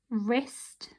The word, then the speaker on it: wrist: words today that have the silent letter w and together when it's next to an r it makes a uh sound okay so these are your words we've got ren wrist wretch wrinkle right on